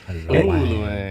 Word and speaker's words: ULOANG: So, it's based on my last name. I just switched the syllables and made up the word ULOANG. So I also made up the pronunciation.